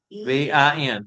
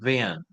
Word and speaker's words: Vin: Diane, if you want to put a pronunciation spelling of it in the comment boxes, it would be Ben. Vin? V V-I-N. Vin.